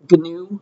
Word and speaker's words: GNU: It's another name for wildebeest, but they're going to say GNU instead with a hard G.